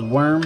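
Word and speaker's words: Werm: That was Worm, by the way. W-E-R-M. Don't know why, but it is spelled very funky.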